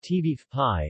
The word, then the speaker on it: ćevapi: cevapi pronounced t beef pie or cevapcici formal diminutive TV apt cevapcici is